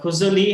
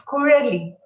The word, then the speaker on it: Kurali: Yes, Kuzali, have I pronounced your name properly? It's Kurali. It's Kurali. Kurali.